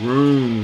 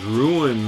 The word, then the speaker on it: Rune: did uh when I showed the Rune magic I pronounced it as ruin magic and I was corrected